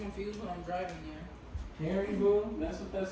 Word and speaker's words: Haribo: Harry Boo, that's what that's called.